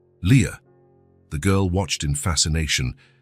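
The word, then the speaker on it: Lia: This is your name, he explained, pointing at each letter as he pronounced them. L I A. Leah.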